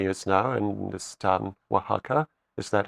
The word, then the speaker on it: Oaxaca: And today you live in Mexico for many years now, in this town, Oaxaca. Is that how I Yes.